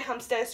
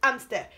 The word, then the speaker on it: hamster: on stair and deer hamster so you don't really pronounce it's not hamsters amster and i'm stare it